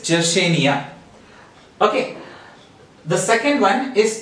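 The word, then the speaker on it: Yersinia: Nia does this now here in the spelling written is ye are SI and IA but how do you pronounce it it is Jesse Nia okay the second one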